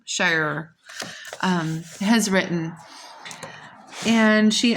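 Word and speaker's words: Shirer: this wonderful study um on Gideon that Priscilla Shyer is how you say her name Sher um has written and she asked a question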